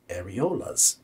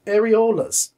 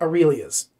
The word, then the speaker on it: areolas: can you pronounce this said areolas areolas areolas so i know it's not aurelias okay just no no